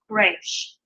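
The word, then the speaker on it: ריש: This is actually going to have more of a guttural sound to it, a little bit more of an H sound on the front. So Resh, Resh.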